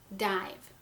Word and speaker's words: dive: You heard it say its name, I. Okay? Now, we don't hear our silent E. Our silent E makes that long to a long vowel, and we have D-I-V.